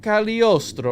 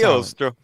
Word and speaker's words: Cagliostro: So Count Cagliostro, right? We have this That's right. guy The here. G is silent. The G is silent. Cagliostro.